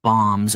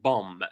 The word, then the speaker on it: bomb: are destroyed the drop bombs over I wanted to notice this word bomb we don't pronounce the last B it's not pronounced bomb